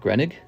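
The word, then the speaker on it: Groening: one year later look Matt grenig is how you say it there's a gronick 1990.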